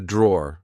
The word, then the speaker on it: drawer: Uh, this is a drawer. Like I said, um, be careful because in British English we don't pronounce the e at the end. We just say draw.